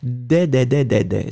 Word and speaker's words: des: If it was the masculine, I would pronounce de. But in that case, it was clearly des.